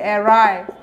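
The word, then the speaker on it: awry: Body যদি ওয়ঙ্কি হয়, অর্থাৎ কি ভগ্ন স্বাস্থ্য, ওয়ঙ্কি অ্যাসকিউ, তাই অ্যারায়, এখানে দেখেন উচ্চারণটা কী হবে, অ্যারায়, ডাব্লিউ আর ওয়াই, অ্যারায়, ইকুয়াল আছে ওয়ঙ্কির, অর্থাৎ কি বাঁকা শরীর, মানে ভগ্ন স্বাস্থ্য, হালকা পাতলা, যা বলতে পারেন।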